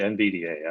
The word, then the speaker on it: NVDA: Popular screen readers include, is this pronounced NVIDIA? NVDA? I always say NVDA.